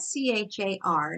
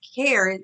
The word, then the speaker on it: char: error let's look at c-h-a-r now you may hear pronounced care it's short for care and character but programmers pronounced it char and Java is going